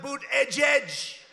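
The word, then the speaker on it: Buttigieg: these people how about boot edge edge who that judge they call him mayor pete you know why because nobody can pronounce his name nobody has any idea they say say edge edge and he presides over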